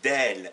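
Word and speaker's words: دال: retenir la lettre D qui s'appelle en arabe d'elle et qui se prononce de ça la forme d'un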